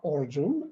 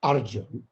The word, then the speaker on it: Arjun: in other places the a sound uh in bengal is invariably o sound so i am not origin i am simply arjun uh or as the